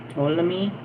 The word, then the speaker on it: Ptolemy: I'm going to say the T is silent or the P is silent. Ptolemy.